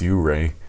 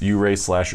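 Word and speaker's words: Ouray: yeah and I think I keep saying hooray - but I think it's pronounced you Ray I think they need to put a why in front if you're the five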